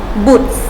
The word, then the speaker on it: บุตร: คำ ว่า โป้ สาว บุตร สาว มี รอ เรือ แต่ ไม่ ได้ อ่าน ออก เสียง ร เรือ นะ คะ บ่